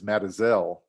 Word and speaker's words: Mazatzal: Well, it's a good thing we're not giving a talk about the Mazatzal Mountains, which is pronounced by people down there as Matazel.